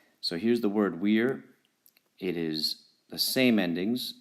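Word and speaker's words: vir: as a v but classical Latin pronunciation generally requires you to pronounce the v as a w so here's the word Weir it is the same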